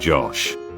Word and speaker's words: Gosh: It's pronounced Josh.